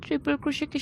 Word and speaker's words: ট্রিপল ক্রোশে: প্রথমে আপনাদের বলে দিই, ট্রিপল ক্রোশেকে সংক্ষেপে টিসি দ্বারা প্রকাশ করা হয় এবং এর উচ্চারণটা হবে ট্রিপল ক্রোশে।